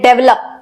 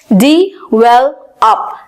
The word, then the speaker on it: develop: Next word है हमारा DEVELOP, और जिसको हम बोलते हैं डेवलप, और इसकी एक्चुअल प्रोनाउंसिएशन होती है डेवलप, डेवलप।